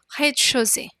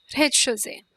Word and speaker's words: rez-de-chaussée: Rez-de-chaussée. The Z is not pronounced. Rez-de-chaussée.